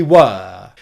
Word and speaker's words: were: then you would use the strong and long pronunciation of this word for example if i said to you were you and your friends at the party you could say we were and if that were is at the end